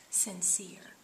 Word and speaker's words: sincere: end the final e this would be a magic e so our final e would be silent and this other e what is it going to say its name so it's going to say what e alright so let's try what you've got here as a magic e syllable in sin and ear sincere all right so when we